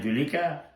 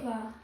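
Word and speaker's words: Zuleika: So they say her name Julika? Whatever. Zulika.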